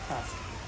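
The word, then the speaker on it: casque: Beak is called cast, pronounced cast. Oh, cast, not cast.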